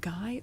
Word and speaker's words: Guy: I'm pretty sure he's Guy of Gizbborne, even though you're correct that the name originally comes from French and would pronounce Gee.